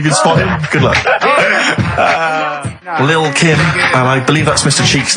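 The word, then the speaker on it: Lil' Kim: I'm pronouncing that correctly. Lil Kim.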